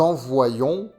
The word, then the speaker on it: envoyons: Avec Y, nous envoyons wai.